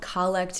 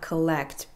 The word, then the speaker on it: collect: I don't know why it's called collect and not collect, but it's spelled the same way, and I don't know if it's just a church pronunciation.